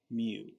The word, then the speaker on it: mu: like an m right so we call it mu okay that's how it's pronounced okay now let's say I get a average but not from the population just from the sample well we don't call it mu that one we call X bar we say